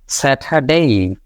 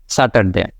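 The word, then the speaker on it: Saturday: উচ্চারণ করতেছে উল্টা এটাও কিন্তু আপনার ছোট আ উচ্চারণ করতেছে তাহলে সেঠা সেঠা ডেই সেঠা ডেই সেঠা ডেই নট স্যাটারডে সেঠা ডেই এভাবে উচ্চারণটা হবে সেট ডেইঠা ডেই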